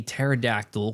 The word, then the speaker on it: pterodactyl: can't you hear a pterodactyl going to the bathroom why because the p is silent there you go what